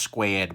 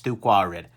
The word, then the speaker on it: 2Quared: side two-quadrant really like I know you think that that's pronounced squared but it isn't it's too quiet come on guys get